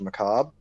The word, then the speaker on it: macabre: sound pretentious as i inform you that it's pronounced macabre but that's just an uh thank you um